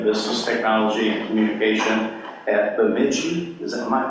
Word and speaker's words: Bemidji: He also served as Dean of Business Technology and Communication at Bemidji, is that my pronunciation? You got it. Bemidji State University in Minnesota.